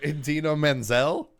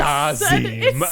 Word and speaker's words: Idina Menzel: Idina Menzel, It's not that hard of a name. Adele It's Dazeem. said like it's spelled.